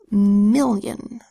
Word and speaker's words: million: M says I says I, L-L says O, the second I says y, because it's in an unstressed syllable, where this O is